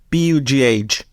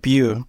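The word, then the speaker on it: Pugh: you pronounce a surname p-u-g-h is it book I guess it's poop or pug sorry I have to look this up I it pronounced like Pew like Hue with a p so it's not blue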